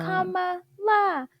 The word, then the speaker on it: Kamala: They were like, Kamala, Kamala.